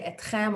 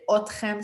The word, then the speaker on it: אתכם: the street, you say etchem or otchem, they will get you. Most people will say otchem, so don't overthink this. It should be etchem and etchen. It's like when I teach my students, you should say lachashov instead of lachshov. But if you say lachashov, no one will get what you're saying. So, otchem is absolutely perfect.